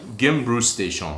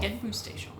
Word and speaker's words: Genbrugsstation: Genbrugsstation. Genbrugsstation.